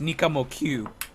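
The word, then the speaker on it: Nicamoq: Yeah, Nikamoke or whatever. Apparently it's pronounced Nikamo Q. You pronounce the Q as a Q.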